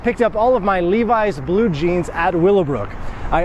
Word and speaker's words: Levi's: key word here is Levi's why Levi's because in Poland you'll hear very often people pronounce it as Livi's I'm doing my friend